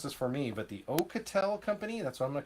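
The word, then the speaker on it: Oukitel: it from over here from me and you pronounce this for me but the ocatel company that's what I'm going to call it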